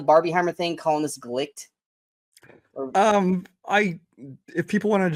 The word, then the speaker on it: Glicked: was Barbie Heimer ick say it right glicked Glick glicked yes but I I